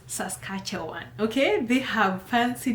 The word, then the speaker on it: Saskatchewan: I know a lot of you can't even pronounce that name. It's Saskatchewan, okay?